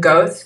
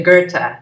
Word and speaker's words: Goethe: I always called him Goethe because it's Goethe, but it's really Goethe is how you pronounce his name.